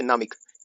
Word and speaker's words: पनामिक: यहां स्थित नामिक इंग्लिश में पनामिक होता है। पी साइलेंट होता है इसमें।